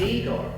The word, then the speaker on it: Igor: Now it's pronounced I. You must be Igor.